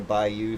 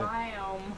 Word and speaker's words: biome: It had to be near a bayou, so I created a bayou. Bayou, is that how you say it? Biome. Biome.